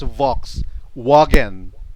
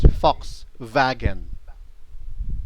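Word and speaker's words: Volkswagen: So the the pronunciation of V and W is different. Uh V here of course in English in English it's Vox wagen, right? But in German pronunciation it's fox vagen.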